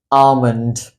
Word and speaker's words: almond: word is called as almond almond the L in this word again is very silent as the English authors